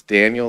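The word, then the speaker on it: Daneil: Um my name is Daniel. Last name is spelled D A N E I L.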